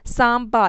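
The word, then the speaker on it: Samba: नाम याद रखना है सांबा इसमें ब जो है वह प्रोनाउंस और है ज्यादा खास बात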